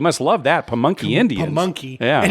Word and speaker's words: Pamunkey: Pamunkey. Yeah. And it's not spelled like monkey.